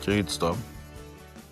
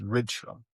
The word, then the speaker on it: Rydström: In Swedish, Henrik Rydström. Because the official pronunciation that he sent out was Rydström.